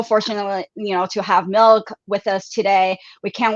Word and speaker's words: MILCK: how to pronounce the name is actually milk but why milk it's like no night milk milk yeah yeah exactly well so it's milk yeah milk is my last name backwards so it's visually on